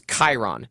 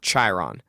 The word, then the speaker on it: Chiron: Yeah, well, and the CH sound and the spelling in Greek is a K sound. So the CH, like the trainer of heroes in Greek mythology is Chiron, not Chiron.